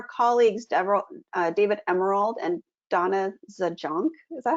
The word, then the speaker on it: Zajonc: So Stephen Cartman created the drama triangle in 1967, and then our colleagues David Emerald and Donna Zajonc, is that how you pronounce her last name?